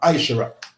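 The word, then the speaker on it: מעשר: You can find this in the book of numbers 18 and 21 and Malachi 3:8-10 means tent in the Hebrew and is pronounced misher 10% of every penny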